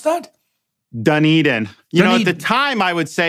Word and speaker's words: Dunedin: How do you pronounce that? Dunedin.